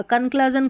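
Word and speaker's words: conclusion: लेकिन सी एल के बाद यहां यू है। क्लू पढ़ेंगे। अगर हम इसको पढ़ते हैं। अगर अ पढ़ेंगे तो कंक्लजन हो जाएगा। कंक्लजन कुछ नहीं होता है।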